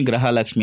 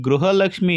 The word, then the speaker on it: ಗೃಹಲಕ್ಷ್ಮಿ: ಅದರ ಬಗ್ಗೆ ಹಂಗೆ ಕೊಟ್ಟಿದ್ದೆ ಗೃಹಲಕ್ಷ್ಮಿ ಅಂತ ಸ್ಪಷ್ಟವಾಗಿ ಹೇಳೋದರಲ್ಲಿ ಯಾವುದೇ ರೀತಿ ತಪ್ಪು ಇಲ್ಲ ಆದರೆ ಅವರು ಪ್ರತಿಸಲ ಉಚ್ಚಾರಣೆ ಮಾಡುವಾಗಲೂ ಕೂಡ ಗ್ರಹಲಕ್ಷ್ಮಿ ಗ್ರಹಲಕ್ಷ್ಮಿ ಅಂತ ಹೇಳ್ತಿದ್ದಾರೆ ಆದರೆ ಅವರು